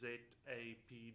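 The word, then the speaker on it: ZAPD: out on it's just z a p d so you can go to z apd dot sierra delay or just search for z apd pronounced zap on meetup and so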